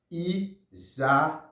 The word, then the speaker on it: Isaías: Alors c'est I-S-A I com acento agudo, A-S. Leve com ça, I-S-A-I. Accent aigu, A-S. Le prononcer comme ça, Isaías.